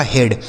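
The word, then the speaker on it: head: डेड एच इ ए डी एच से हो गया ह इ ए का उच्चारण एक ही मात्रा डी से हो गया ड। यह लिखा गया आपका हेड।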